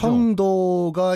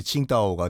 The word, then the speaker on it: 칭다오: 청도가 이제 우리 발음이고, 예. 중국식 발음이 이제 칭다오가 되는 거죠.